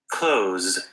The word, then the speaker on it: clothes: not know is that most Americans don't bother doing that th sound in this particular word they just say it like this clothes so they just say clothes with the Z sound they leave the th off because it's very challenging to say clothes and so if you struggle with this word I recommend just using this pronunciation which is used by most Americans and it's the same